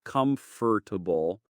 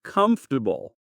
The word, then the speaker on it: comfortable: We don't really pronounce the R strongly in comfortable. It's not comfortable. It's just like kind of comfortable.